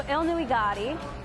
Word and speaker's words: Ilnuigati: So Ilnuigati is how you pronounce it in Mi'kmaq, and that means First Nation community.